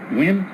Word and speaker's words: Nigian: Officer Wynn, Yeah, Officer Wynn? but it's spelled Nigian. Yeah, NG silent.